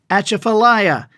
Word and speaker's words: Atchafalaya: pronounced brim oh and the big river basin and swamp is pronounced Atchafalaya not one of the ten other ways we've heard narrators attempting to blunder through and our most famous